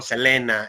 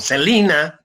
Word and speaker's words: Selena: frontera el caso de selena que decimos en méxico selena y en eeuu se le dice se le conoce como celina pero se escribe exactamente igual es el caso icono